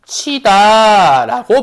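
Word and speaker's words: 굳히다: 라는 게 입증이 된 순간 굿티라고 됐지만 요 이모음의 원천이 요 히가 형식 형태소니까 얘 결론적으로 발음 나 어떻게 할 거라고? 구개화적에서 구치다라고 발음한다는 소리야.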